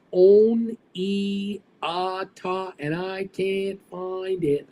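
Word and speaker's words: Oneonta: Omneti is pronounced On-E-A-Ta, and I can't find it.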